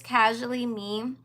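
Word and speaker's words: CAJually Me: But yes, my YouTube is Casually Me. So you know, like the word casually, instead of me spelling it Casually, I spell it Cajully to represent my initials. CAJ are my initials.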